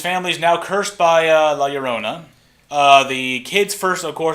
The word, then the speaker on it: La Llorona: pronouncing her name right, La Llorona, so double L, so it makes Y sound or something. Correct me if I'm wrong. Maybe I heard it's also probably be a CH sound, but I'm pronouncing it La Llorona.